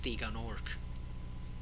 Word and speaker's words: Gnorc: We have one for Jacques, and we have one for Gnorc. It's Nasty Gnorc. The G is silent, but that one dragon mangles it, so I'm gonna do the same thing.